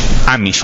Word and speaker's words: Amish: Entonces, por ejemplo, acá tenemos al hombre moderno que está en su motocicleta, y a los Amish, o Omish, creo que se pronuncia en inglés, que viven, sin tecnología.